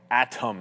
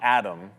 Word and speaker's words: Atom: And by the way, this Adam stock, Atom, not Adam.